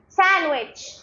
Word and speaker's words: sandwich: rhino rhino rhyme rhyme D is silent in these words sandwi sand repeat after me not sandwich sandwich sandwich Wednesday Wednesday Wednesday Wednesday